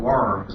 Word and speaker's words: Worms: Remember, it's spelled worms, but it does mean little burrowing creatures on the ground. W is pronounced as a V in German.